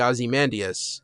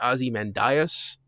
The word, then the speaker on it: Ozymandias: his superhero name, because most people say Ozymandias, and that's what they said in the movie. But evidently Alan Moore and Len Wein, who was the editor for Watchmen, pronounced it Ozymandias.